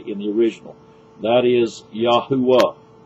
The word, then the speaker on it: Yahuwah: the original that is yahuwah it's a three syllable pronunciation archeologists have discovered i